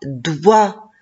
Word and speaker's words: doigt: Oui, dewa, doigt. Et la lettre G et la lettre T à la fin, je ne les prononce pas.